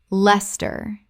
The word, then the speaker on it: Leicester: Les-ter. Les-ter. Word 105. Qatar. Common mispronunciation.